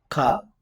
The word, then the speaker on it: ka: Ka. So it sounds like short. There's a contrast. Ka. Long vowels versus short vowels in Hawaiian.